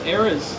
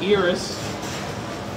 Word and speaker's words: eras: this tour yeah but that's not how you pronounce eras that's not ears ER ear whatever I